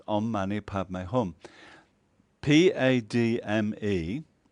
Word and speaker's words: Padme: Padme, the D is actually more like a full stop. So you don't say Pad May, it's more like Pad. You're on the edge of D, May.